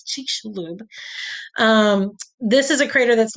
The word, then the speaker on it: Chicxulub: how to say this, but I think it's Chicxulub.